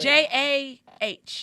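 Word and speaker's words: Jah: Spell jog so That's they know speak- how to spell it. J-A-H.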